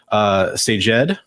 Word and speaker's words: Sajed: And Cinecrom says phonetically it's pronounced Sajed in Arabic for you language fans. Oh, that's cool. Sajed.